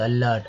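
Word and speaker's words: alert: हुआ, ल ही हुआ, आर टी होगा तो अलर्ट, अलर्ट, एलर्ट नहीं, अलर्ट।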